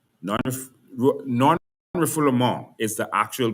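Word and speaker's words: non-refoulement: All right non non reformul is the actual pronunciation. It's a French word, non-referable.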